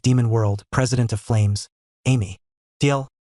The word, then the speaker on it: Amy: The master of the 58th demon world, president of flames, Amy. TL. Pronounced as Aim.